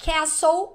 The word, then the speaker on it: castle: Então, castle, a letra T não é pronunciada.